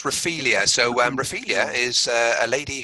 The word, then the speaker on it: Raphaelia: John, you picked a track for us, and am I pronouncing it right? Gillespie and Co featuring Raphaelia. Yeah, so it's Raphaelia.